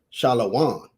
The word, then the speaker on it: shalom: but he was saying even if it's spelled like that, it's still pronounced shalom.